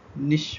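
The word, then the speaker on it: niche: तो American English में निच बोलते हैं और यूके इंग्लिश में निश बोलते हैं।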